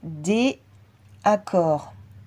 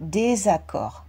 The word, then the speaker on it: désaccord: Mais là, ça ferait déaccord. Donc, ce n'est pas fluide quand on le prononce. C'est pour ça qu'il faut absolument mettre le S. Pour ne pas avoir déaccord, on rajoute un S et ça fait désaccord.